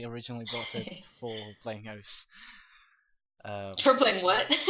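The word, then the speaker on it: osu!: I originally bought it for playing OS. For playing what? OS is what's it's usually pronounced, the way it's usually pronounced, but it is spelled OSU exclamation mark.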